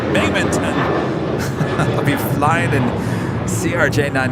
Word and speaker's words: Binghamton: Cap, because I'm flying Delta out of Binghamton, pronounced Binghamton.